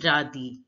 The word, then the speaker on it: radis: pronounced as e and the last letter is generally not pronounced in French so here s is not pronounced so we pronounce it as radhi radhi now listen to the